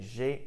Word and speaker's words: j'ai: It would be a lot more difficult to say je ai rather than just j'ai. If we say j'ai, there's a bit more of a melody to it. So that's why we say it like that.